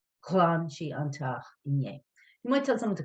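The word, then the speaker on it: ghlan: is the command and now to make the past just other shading g-h-l-a-n clan you might tell someone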